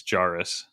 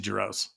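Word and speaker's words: Jesse Jarus: up well Jesse Jaris I have been mispronouncing that for 12 years yep it's jarus okay jarus um silent Z and it's like as if it's a U.S like jarus everyone says Jesse jaros Yeah that's what happened yeah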